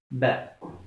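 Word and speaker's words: ب: Ça, c'est Ba, ce qui revient à la prononciation de la lettre B en français.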